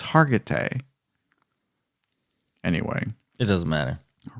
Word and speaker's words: Hargitay: believe so mariska hagerty i don't think it's hagerty i think it's hargitay anyway it doesn't matter